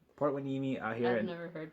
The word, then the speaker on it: Hueneme: So like Port Hueneme out here. I've never heard that shit. Yeah, it's spelled like Hueneme, but it's right by Oxnard.